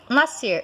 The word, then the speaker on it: nascer: E nascer, apesar de que você fala nascer, você não pronuncia esse S aqui, certo?